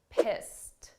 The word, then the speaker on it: pissed: past simple verb, but the sound of that ED is a very soft T, pissed, pissed.